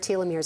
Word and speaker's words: telomeres: I still trip on that word telomeres.